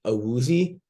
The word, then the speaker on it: Awuzie: They are missing I always pronounce this guy's name wrong. Awuzie. Awuzie.